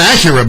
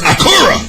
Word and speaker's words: Acura: It's not Acura. Black folks say Acura. It's Acura. You gotta say it like you Japanese.